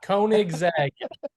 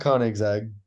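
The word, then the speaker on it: Koenigsegg: I'm leaving the chat kig zeg he gives have one coming you have one coming kig zeg kig Z kig zeg all right anyway so it's not K exag that is this car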